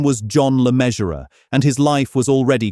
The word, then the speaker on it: Le Mesurier: and her maiden name, Le Mesurier, was the one her son would eventually take for the stage. The surname rhymes with treasurer.